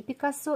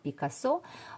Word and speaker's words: Picasso: называть и Пикассо и Пикассо можно и правильно будет И в том и в ином случае потому что у семи Пикассо но я буду называть на французский манер с ударением на последний слог Пикассо испанское и французские корни